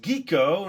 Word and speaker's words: Quico: number two this is geeko now the spelling was Qi but after I watched a couple episodes in the intro it didn't sound like they were saying quo it sounded more like geeko so that's what I